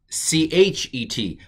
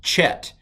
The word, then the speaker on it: Chet: And sometimes this is C-H-E-T, but it's not chet. Hebrew does not have a ch sound as I'm teaching it. So this is a chet. It's a ha. It's like ich in German or lach in Scottish.